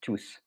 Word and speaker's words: tous: Okay, so the S in tous is pronounced because we want to make a difference between tous, which is all the people or everyone, and tout, which is everything. So that is why it's pronounced tous.